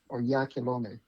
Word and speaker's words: Oyakhilome: So, I'm okay with, but it's Onyekolom.